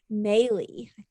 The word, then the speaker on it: Maylis: fantastic lisa kirk from maylie did i say that right lisa maybe rhymes with daily yeah and as our